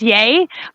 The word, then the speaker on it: Yea: It's pronounced Yay.